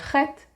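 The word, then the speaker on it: חית: When you see KH, you know it's the letter Chet, and you know that you pronounce it ch.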